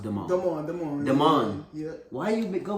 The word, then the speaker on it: Damon: But his real name is pronounced Damon.